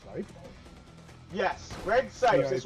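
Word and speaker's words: Greg Cipes: Yes, Greg Sykes. Yeah, That's right. I don't know if I'm pronouncing that.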